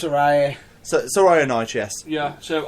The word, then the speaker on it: Saraya: Saria? Is that a name? I can't pronounce it, that's why I'm going, is it Saria, is it this? I can't pronounce it. Saraya.